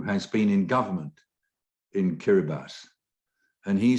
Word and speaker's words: Kiribati: That's the island atoll called Kiribati. That's how it's spelled phonetically, pronounced phonetically.